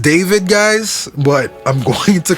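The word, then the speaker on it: d4vd: in Hollywood Hills that was also linked to Dorvid. again. I know his I know it's pronounced David, guys, but I'm going to continue to call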